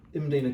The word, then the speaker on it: Mdina: this is imina glass otherwise we we English would call it Medina glass because you can't understand the pronun pronunciation imina we can't read it so it's Medina glass imina glass MD i n a named after the Fortress